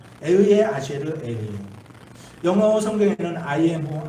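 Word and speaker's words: אהיה אשר אהיה: 이 히브리 말로 에흐예 아쉐르 에흐예라고 이렇게 발음해요. 에흐예 아쉐르 에흐예.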